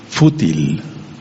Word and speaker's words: fútil: Y hay una palabra que se llama fútil con acento en la u. Fútil.